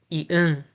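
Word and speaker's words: 이응: The pronunciation is ah, ah, ah. The name is Ian, Ian, Ian, Ian, Ian.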